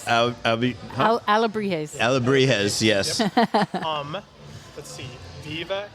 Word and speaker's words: Alebrijes: I can't remember how to pronounce it right now. Alebrijes. Alebrijes.